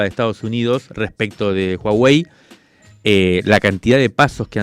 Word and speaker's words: Huawei: en Buenos Aires de se dice Huawei me explicaron acento en la a y con j donde estuvimos hablando ahí